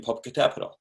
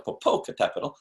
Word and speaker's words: Popocatépetl: So how do I learn to pronounce the name Popocatépetl?